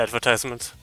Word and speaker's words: advertisement: Because it has like 4 syllables, and usually in a 4 syllable word, the second syllable is pronounced with like emphasis is on the second syllable, if I remember correctly.